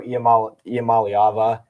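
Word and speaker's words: Iamaleava: behind Jey but uh and then if Nico ialam malava I finally pronounced it right if he can finally you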